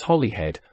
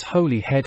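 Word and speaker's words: Holyhead: and town of Anglesey how old then that we should all persist in pronouncing hollyhead as Holly head perhaps we do it out of guilt for our refusal acknowledging the existence of this her head let us then pronounce it properly as holy head for indeed it is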